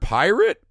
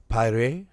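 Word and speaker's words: Pieratt: i'm gonna say howard pirate it sounds like he would have some kind of french pronunciation pyre howard piper how's it spelled p-i-e-r-a-t-t yeah i'd go with pirate pirate it just sounds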